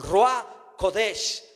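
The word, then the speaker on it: רוח הקודש: En la revelación del nuevo pacto miramos a Dios en su espíritu manifestándose como Espíritu Santo, el Ruach Kodesh, como se pronuncia en hebreo.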